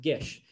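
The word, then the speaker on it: Geis: how to say it g-e-i-s i think it's gesh it's pronounced gesh this series is really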